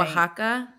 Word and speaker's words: Oaxaca: I want to say yes, but I know the X, they use it differently, because like for like right. Oaxaca, it's like OX.